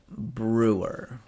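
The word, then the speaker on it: Breuer: We can talk about Jim Brewer. Brian. Is that how you pronounce his name? Yeah, Brewer.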